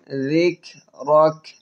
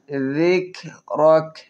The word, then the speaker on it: ذكرك: ওয়ারাফা'না লাকা যিকরাক। কাপের উচ্চারণগুলো একটু চেপে ধরে ছেড়ে দিব। যিকরাক, জাল পাতলা হবে। যিকরাক।